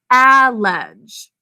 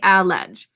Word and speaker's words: allege: sound out allege the first syllable is unstressed so let's say allege allege two syllables first syllable ah in a silent all to keep the vowel short next syllable and the j is saying get second sound because